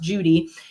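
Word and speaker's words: Cudi: in particular called Mount Judy. It's it's written c u d i but it's pronounced judy.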